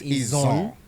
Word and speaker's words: Izon: So the proper pronunciation is Izon, and it's only Izon and not a jaw. No, not a jaw. That a jaw is anglicized.